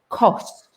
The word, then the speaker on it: cost: actually see it because cost in terms of money is around it's the o sound cost you see my lips go round and when i was